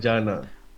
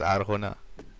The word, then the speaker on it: Arjona: I don't know how you pronounce it. Orjana. Or She's Jonah. she's Mexican, so it's Arjona.